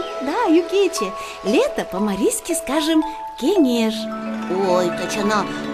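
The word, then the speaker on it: кеҥеш: Ой, точно, в слове кенеш есть интересный марийский звук «н». Когда этот звук произносим, язык к зубам не должен попадать. А наоборот, язык должен подниматься вверх к небам. Вот так.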